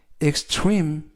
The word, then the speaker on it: extreme: 이때에도 강세를 알려드리면 알파벳 E가 3개가 나오는데요. 이번 단어에서도 가운데 있는 알파벳 E에 강세가 있습니다. 그래서 extreme 이라고 발음하시면 좋겠고요.